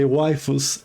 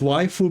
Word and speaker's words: waifu: Um it's just waifu because of how Japanese people will pronounce the word wife. So, it kind of sounds like waifu.